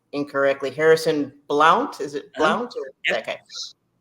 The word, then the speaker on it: Blount: We also have, and I'll probably pronounce his name incorrectly, Harrison Blount.